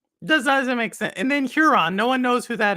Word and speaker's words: Huron: Huron, yes.